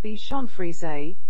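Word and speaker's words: Bichon Frise: fries 46 thicken fries 46 bacon fries pronounced Bichon frize these light-hearted relentlessly merry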